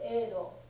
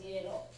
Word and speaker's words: Edo: name for Tokyo is Edo, okay? And in English, I have occasionally seen it spelled as Yedo. Because presumably it used to be pronounced that way 500 years ago or so. It's not anymore, okay?